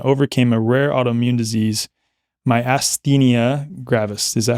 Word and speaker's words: myasthenia: Moshe personally faced and overcame a rare autoimmune disease, myasthenia gravis. Is that how you pronounce it? Myasthenia, yeah.